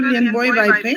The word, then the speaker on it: Lianboi Vaiphei: ताकि हम सही तरीके से उनके नाम का उच्चारण कर सके। मैडम आप। Madam, my name is Dr. Lianboi Vaiphei.